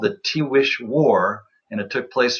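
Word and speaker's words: Tiguex: today uh called themselves it's a mishearing of the word but that's how they pronounced it t wish and these 12 pueblos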